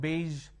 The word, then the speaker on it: beige: in the middle and then we have beige where the sound is in the end now what happens usually